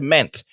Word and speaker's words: meant: Mais lorsque vous ajoutez T, le E a va changer de prononciation. On ne dira pas, on ne dira plus euh i, ça sera maintenant. Et donc ça sera ment.